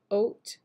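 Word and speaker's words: Haute: one is in the shade oat it's spelled ha Au u t and um I used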